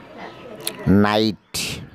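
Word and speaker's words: knight: নাইট, নাইট উপাধি, এখানেও কের উচ্চারণ নেই।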